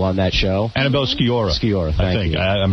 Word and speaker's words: Sciorra: I think Annabella Shore looks unbelievable on that show. Annabella Sciorra. Sciorra, thank you.